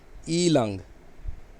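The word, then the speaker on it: 伊朗: उसके बाद है ईलांग, ईलांग थोड़ा सा डबल ए है तो मैंने प्रोनाउंसिएशन के भी अंदर भी लिखा है, थोड़ा सा इसको खींचना है।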